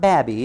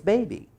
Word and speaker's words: baby: Vowels A and U and O and E say their name at the end of a syllable, you see. So this is not babby, it's baby.